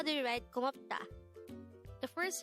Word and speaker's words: 고맙다: GOMAPDA, which means thank you or thanks in Korean.